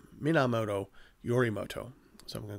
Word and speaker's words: Minamoto: I do apologize um so there's this guy named MiniMoto I'm sorry not mini mini Mina minamoto yorim Moto so I'm